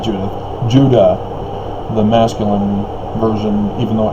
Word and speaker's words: Judah: know like i said judah phonetically the same as utah because it's not a j sound that's the latin based languages european corruption call it j or uh the spanish turned it into an h and it just all